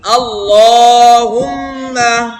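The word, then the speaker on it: اللهم: আল্লাহুম্মা, আল্লাহ আর আল্লাহ কোনটা হবে? আল্লাহ হবে না, আল্লাহ হবে। ল, এটা আল্লাহ শব্দ, তার আগে জবর আছে, এজন্য ল উচ্চারণ হবে। আর হুম্মা এটা হচ্ছে ওয়াজিব গুন্না।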